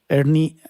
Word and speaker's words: ERNIE: Ernie, así como se escribe, E-R-N-I-E, como nombre, así como de Beto y Enrique en inglés.